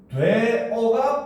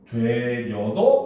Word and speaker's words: 되어: 돼 있어 그지 그죠 그럼 얘는 발음을 어떻게 해야 된다 원래 발음은 되어가 그 뭡니까 표준 발음이라 거죠 그죠 하지만 뭐도 인정한다 되여도 표준 발음으로 인정을 해 준다는 겁니다 알겠습니까 그래서 봄이 되어